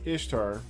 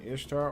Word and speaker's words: Ishtar: Semiramis became known as Ishtar, which is pronounced Easter. So you can say Easter or Ishtar or Easter, referred to as Eosturmonath in scripture, and her moon egg became known as Easter's egg.